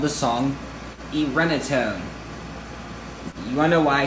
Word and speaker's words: Irenetone: And her first name is Irene, but to make it fancier, I changed it to pronounce it Irenetone.